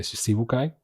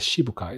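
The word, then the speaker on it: Shichibukai: With the Shibuai or the Shibukai, depending on how you want to pronounce it.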